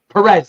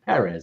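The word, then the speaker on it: Pérez: trying I keep trying sometimes old habits die hard and sometimes Perez comes out but I I still try to as much as I can say Perez out of respect for him yeah exactly if that's his wish you know I mean he he preferred it that way you know cool um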